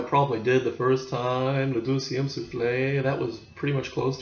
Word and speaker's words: Le Deuxième Souffle: Although I probably did the first time, le deuxième souffle, that was pretty much close to it, wasn't it?